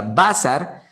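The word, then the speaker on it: בשר: palabra hebrea basar, que son 3 letras hebreas, bet, sim y resh, cada vez que aparecen estas 3 palabras hebreas, bet, sim y resh, que se pronuncia basar, cada vez que la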